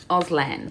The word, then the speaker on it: Auslan: now I'm probably pronouncing it wrong, so it's Auslan? Auslan. Oh, I think I am pronouncing it right.